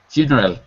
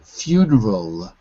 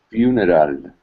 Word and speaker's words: funeral: wait because I'm hearing funeral funeral funeral funeral funeral funa you got to get that L at the end of funeral because it ends in an l and there's no other